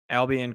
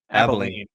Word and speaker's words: Abilene: I think there's 3 or 4 options you could have gone, but Tech goes to overtime with Albion Christian. Is that how you say it? Abilene. Abilene.